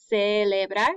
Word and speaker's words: celebrar: For example, the word celebrar. I bet you can guess that. So that's a baseball word. Celebrar means to celebrate. So the C is followed by e, celebrar, so it makes a s sound.